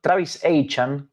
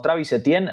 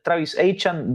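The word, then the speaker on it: Travis Etienne: debe estar contento y con su nuevo corredor Travis An que es la la a partir de ahora así se pronuncia a quien conocíamos como Travis Etien, ahora pasa a ser Travis aan dicho por él mismo.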